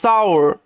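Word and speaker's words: sour: সাওর ঠিক আছে অনেকে সোর সোরও বলে ঠিক আছে সমস্যা নেই সৌরও বলা যায় বাট সওর সৌর এরকম আও সাউন্ডটা আসবে সওর ইট এটি এটি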